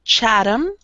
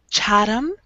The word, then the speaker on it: Chatham: Yes, this is Chatham. The TH sounds like the flapping roll. Da da da da da. Chatham.